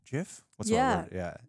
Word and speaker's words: GIF: Is it GIF? GIF? What's yeah. What yeah. How do you say it? GIF? GIF? It's graphic, so GIF, but I think they said that it's GIF.